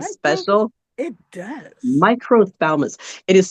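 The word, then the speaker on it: microphthalmos: But if if you look at the pronunciation, it's microalmus.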